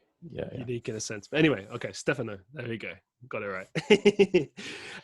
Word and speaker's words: Stefano: thanks for having me also it's pronounced stefano but no don't worry yeah don't worry because uh there's not a single english native speaker pronounce my name correctly sorry stephanie yeah much